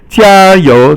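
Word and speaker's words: 加油: 加 is first tone, and 油 is second tone. And it means make an extra effort. Like if somebody's performing, you say 加油, 加油.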